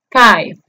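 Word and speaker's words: five: Por último, vemos que termina en V o V chica. Ojo que la pronunciación de la V o V chica en inglés es parecido a nuestra F, pero es más vibrante. Se pronuncia casi como si estuviésemos mordiéndonos los labios inferiores con los incisivos superiores. Entonces, la pronunciación del número 5 en inglés sería 5.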